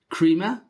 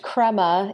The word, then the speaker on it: Crema: know that you're working at an agency called Crea is that how you pronounce it it's pronounced Crema it comes from the golden layer that rises